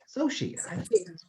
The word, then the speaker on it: Soshi: Is it? Soshi? Soshi. Yes.